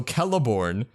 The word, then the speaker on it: Celeborn: best but yeah so keleborn is with a k that's well that was okay but like it's the sound of a k okay and then moving